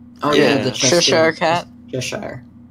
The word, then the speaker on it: Cheshire: Cheshire. I want to say Chester, but it's Cheshire.